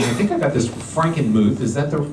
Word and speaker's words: Frankenmuth: in in and I think I got this Frankenmuth is that the correct pronunciation yeah um um I believe and it